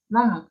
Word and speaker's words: maman: Attention à la prononciation nasale, maman.